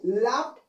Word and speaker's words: laughed: In front of the suffixes ed, there is what? H consonant letters. The H consonant letters is what? Voiceless. The voiceless can be pronounced as what? T sound. So I can say what? Laughed. Rather to say laughed, it is what? Get to say what? Laughed. Ed can be pronounced as T sound. That's why. Because H is the voiceless consonant.